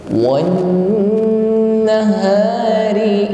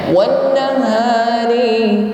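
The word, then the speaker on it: والنهار: Setiap nun dan mim yang bertasydid maka ditahan sampai berdengung. Ditahan sampai terasa dengung di rongga hidung atau al-khayshum. Wan terasa berdengung baru dilanjutkan. Jangan wan nahari. Ini dengungnya belum sempurna.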